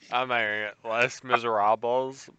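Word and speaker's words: Les Misérables: what i can't we said it 14 times the american way and the correct pronunciation less miserables i challenge hugh jackman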